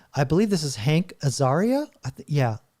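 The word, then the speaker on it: Azaria: Uh I believe this is Hank Aaria. Yeah, Aaria.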